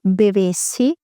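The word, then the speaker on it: bevessi: beber y diremos yo bebesi atención a la pronunciación la primera es una B y la segunda es una V yo bebesi t bebesi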